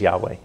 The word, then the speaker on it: Yahweh: pronouncing it publicly that they never lost the pronunciation and that's what the the top rabbis in Israel believe the name is Yahweh ya know and it's a very good point